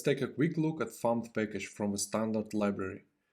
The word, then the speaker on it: fmt: First of all, FMT is short from format, but a significant amount of people pronounce it as FAMT.